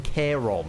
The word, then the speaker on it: Charon: That's because you're not fighting Charon in Hades 2. You're fighting Charon, apparently. Well, a lot of people have a lot of different pronunciations for a lot of Greek mythos.